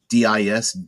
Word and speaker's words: Dis: I'm going to guess it's DIS. I always pronounce it D, not dis, but whatever the case may be.